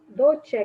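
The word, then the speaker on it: dolĉe: Dolce que fala? Dolce. Repito, bom vôlei. Dolce. Dolce. Dolce. A UL pronunciar. Dolce. Não existe letra não pronunciada em Esperanto.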